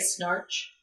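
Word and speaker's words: Schnarch: what i'm saying but it's s-c-h-n-a-r-c-h it looks like snarch that's pronounced and his first name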